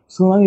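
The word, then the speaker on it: tsunami: গুলোতে আমাদের প্রথম অ্যালফাবেটটা উচ্চারিত হয় না যেমন সুনামি বানানে কিন্তু টি সুনামি সুনামি বানানে টি সুনামি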